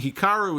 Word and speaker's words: Hikaru: Dasha pronouncing Hikaru is how it is officially pronounced in Japanese.